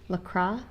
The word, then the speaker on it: LaCroix: And I'm drinking instead LaCroix. LaCroix. LaCroix. With a splash of lemon. We looked that up. It's how you pronounce it.